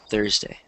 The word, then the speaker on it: Thursday: Because you don't want to stress day, you want to stress Thurs. Because that's the first syllable. It's a noun. So you stress on the first syllable. Thursday.